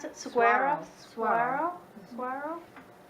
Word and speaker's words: saguaro: Saguaro? Saguaro. Saguaro? I don't think you pronounce the G.